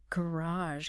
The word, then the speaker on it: garage: you had the word garage let's say it slowly garage can you hear that sound at the end age like in mirage mirage or massage massage similar ending sound garage good now 2.2 Two.